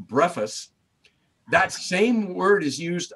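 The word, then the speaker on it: βρέφος: And what's interesting about that is the Greek word that's used there for little ones, it's a Greek word called, it's pronounced brephos.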